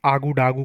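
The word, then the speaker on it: Ouagadougou: बहुत ही कठिन प्रोनाउंसिएशन है। बट इसे हम आगू डागू कहते हैं।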